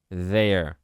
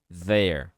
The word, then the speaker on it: there: cannot go out there there ou seja o som é escrito por essa letra aqui tá certo você pode falar com o som de D ou o som de z por enquanto there there depois quando você